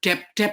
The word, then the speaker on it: debt: Kemudian debt itu orang nggak pada ngerti debt itu. What is debt? Oh, debt. Ya, kalau utang itu kan B-nya nggak dibaca.